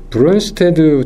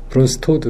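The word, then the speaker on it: Brønsted: 이거가 이제 브론스테드, 저희는 이제 이렇게 그냥 읽었어요. 독일어식으로. 근데 이게 덴마크 사람인 것 같아요. 네덜란드 아니면. 그래서 어떻게 발음하나 봤더니 브론스토드 이렇게, 브론스토드 이렇게 얘기하는 것 같아요.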